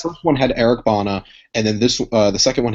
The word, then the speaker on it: Bana: Did you just say Eric Bana is a big name? I said Bana. So. Is it not Bana? Is it Bana? No. You said it right.